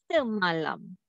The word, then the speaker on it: semalam: For sure, the sound is S, not SE. Because I didn't put the sum of symbol on the top of E, right? S. The second syllable, M-A. Sound is MA. S-MA. And the next syllable, LAM. L-A-M. Okay? S-MA-LAM. Lam, this is the end syllable because they're end from the vowel and end from the consonant. Okay, so sorry, the ma lam.